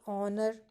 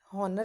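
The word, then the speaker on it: honour: वैसे ही ऑनर, हॉनर तो नहीं होता है, ये ऑनर, तो अ वाली साउंड जो प्रोमिनेंटली हमें आती है तो हम इसके आगे लगाते हैं एन।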